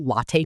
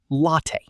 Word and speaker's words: latte: Pronunciation tip, latte, sounds like latte, not lat.